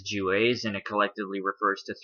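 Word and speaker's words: Juwes: the juas j-e-w-a-e-j-e-w-e-s it's not pronounced Jews it is jewes and it collectively refers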